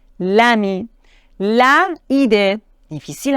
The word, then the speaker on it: l'ami: l apostrophe par exemple le ami c'est difficile à prononcer on doit dire l'ami là il est difficile